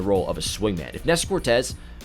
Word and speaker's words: Nestor Cortes: Nestor Cortes. Why'd I say it like that? Nestor Cortes.